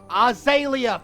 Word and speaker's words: Azalea: Azalea, for fuck's sake, Eli, there is no I. How do you fuck this up every time? I mean, there's literally a Z in there, man. Azalea. I pronounced the Z. Yeah, but you don't pronounce the A.